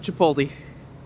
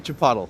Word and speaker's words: Chipotle: Oh yeah, lots of Chipoti. Sorry, Chipotle. Let me say it correctly.